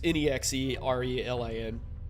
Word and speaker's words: Nexerelin: It's Nexarelin or Nazarelin or something like that. I'll show you how it's spelled. Hold on. Well, whatever. It's Nexerelin. Really cool mod.